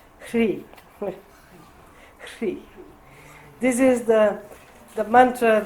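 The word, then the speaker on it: hrīḥ: But here, they have added the seed syllable in the end. So in this sadhana we say Om Mani Padme Hum Ri. Hri.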